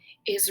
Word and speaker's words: is: Is, is, the S says the Z sound.